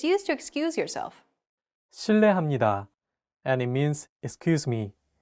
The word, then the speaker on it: 실례합니다: R and an L, don't pronounce it like an English R. Listen to how J is pronouncing this sound. 르, It sounds like a mixture between an R and an L sound.